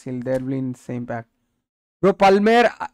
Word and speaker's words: Palmer: there same pack BR Palmer L is silent pame no p Tom please